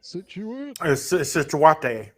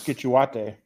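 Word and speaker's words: Scituate: Situate. No. How How did you legit think that town was spelled? uh pronounced. How did you think it was pronounced? I thought it was skituate.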